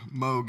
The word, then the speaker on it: Moog: And I use this Moog, or Moog is the correct pronunciation, but I like to say Moog, so I'm going to call it a Moog, control pedal, and it's a beast.